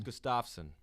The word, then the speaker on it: Gustafsson: It's Gustafsson.